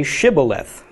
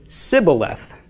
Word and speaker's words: Shibboleth: would say to him then say Shibboleth but he would say Sybil F not being able to pronounce it correctly thereupon they would seize him and slay him by the Fords of the Jordan so they used the dialectical difference that the Ephraim i'ts had the four mites did not pronounce the SH sound okay and that's actually